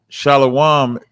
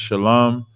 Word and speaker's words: Shalom: right instead of making instead of making a compound word of just Shalom they're pronouncing a sound that's not necessary to be pronounced okay yeah so that's